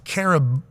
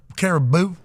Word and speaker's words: Carabao: By the way, that was caribou, Carabao. but it's spelled caribou. Spelled the animal. BAO. Carabao.